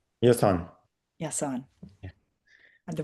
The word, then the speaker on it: Yasin: Yes, on.